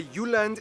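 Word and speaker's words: Jylland: Denmark is made of the you land not Jutland peninsula that connects to Germany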